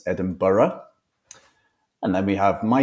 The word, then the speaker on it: Edinburgh: capital city over here Edinburgh not Edinburg as many people pronounce Edinburgh and then we have